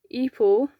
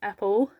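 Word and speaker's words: Epel: I had to think of his name because every time I say his name, I call him Apple. And that is not how you pronounce his name. It's not how they pronounce it in the game either. I don't know where I get Apple from, but his name's Eepal.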